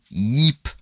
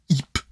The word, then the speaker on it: Ip: Ils appellent Ip Man, donc c'est Yip, le Y, le I, tu le prononces, tu vois.